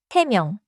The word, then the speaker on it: 세 명: 세 명. The counter form is 세 and 명 begins with a soft nasal 미음.